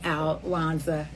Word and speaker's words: Alwonza: just who I am alanza being Al wanza so thank you for trying to say my name and saying my name and pronouncing it because every time that you do you are saying I have overcome I have won out W so I am a um I win I'm a winner and so are you